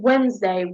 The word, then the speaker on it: Wednesday: Um yes, this is common uh and Wednesday. Wednesday. When we say Wednesday, we're not pronouncing.